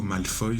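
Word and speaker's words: Malfoy: Je précise que Draco Malfoille c'est plus la prononciation en anglais.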